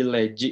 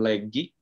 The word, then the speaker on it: leggi: Oke, menjadi leggi ya, bukan leggi.